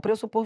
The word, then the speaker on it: pressupor: Porque a pronúncia é pr. Se fosse pré, tem gente que até para falar bonito fala assim: "Ah, eu vou pressupor que pressupor. Você não tá falando bonito, você tá falando errado.